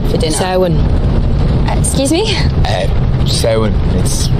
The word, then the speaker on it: Samhain: Samhain. It's pronounced Samhain.